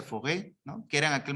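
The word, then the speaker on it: Faure: El primero que desarrolla esa noción de aprendizaje a lo largo de la vida fue el señor, supongo que se pronuncia Fauré, ¿no?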